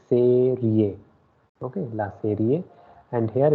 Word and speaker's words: serie: Okay, E is pronounced as A, so that's why it will be serie.